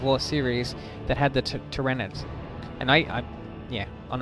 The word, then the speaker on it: Tyranids: series that had the tyranids and i i yeah on a on a side note i used to mispronounce that them all the time i say trinidad's but it's not trinidad's anyway as you can see